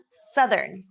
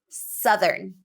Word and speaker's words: southern: next group of words southern southern it's not the same pronunciation as south where we're changing our mouth shape because it's different vowels so southern and south are different southern uh southern and